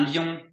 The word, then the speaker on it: lion: Un lion, Lion. lion. lion. Oui, ça s'écrit pareil En qu'en français, mais ça se prononce pas pareil.